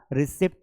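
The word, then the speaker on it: receipt: भैया रिसिप्ट दे दो वो रिसिप्ट नहीं है वो रिसीप्ट है क्योंकि पी साइलेंट है क्यों साइलेंट है पी बिकॉज पी कहां आया है बेटा टी के साथ कॉमिनेशन में है तो टी के साथ अगर प आएगा तो पी को उच्चारित नहीं करना है अब आपको कोई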